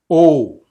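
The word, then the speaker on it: ω: It has this sound. O. O. It's a long O sound. O. As in cone.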